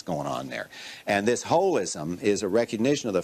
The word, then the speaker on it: holism: And that's, we pronounce it H-O-L-I-S-M, holism, but that's just because it's too hard to say holism. It doesn't mean it's got a hole in it.